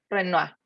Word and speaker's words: Renoir: renault como se pronuncia los que hacen en francés hoy se produce como renoir ok perfecto carlos entonces